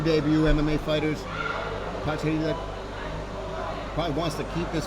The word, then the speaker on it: Patcharida: Patcharida.